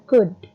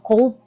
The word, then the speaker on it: could: And also remember when you try to pronounce could, jangan dibaca L-nya ya, tapi bacanya could. It's not cold but could.